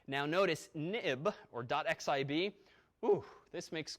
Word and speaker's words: xib: application now but also this xib file pronounced of course nib and ib for historical reasons it went as soon as the nib file became an xml file they renamed it xib but we still say nib now notice nib or